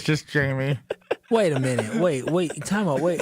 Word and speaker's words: Jaime: His name is Jamie. I think I just convinced myself he was. What exactly did he text back? He goes, I'm not Spanish, J-me. J, not pronounced like an H, crying face emojis.